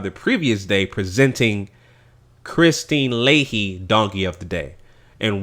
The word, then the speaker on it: Leahy: But I was calling her Leha, but it's actually Leahy.